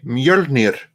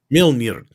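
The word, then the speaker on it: Mjölnir: Mjolnir. Mjolnir. There we go. Yeah. Rolling the R is the most important thing there.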